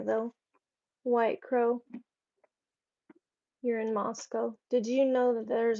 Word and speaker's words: Moscow: is in Siberia though white crow you're in mosow did you know that there's a Moscow Idaho it's spelled the same way white crow we pronounce it moso and not Moscow if I could live anywhere that I wanted